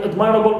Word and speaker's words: admirable: So normally admire, okay, my in the verb, in the stem normally is stressed, but in admirable we stress am.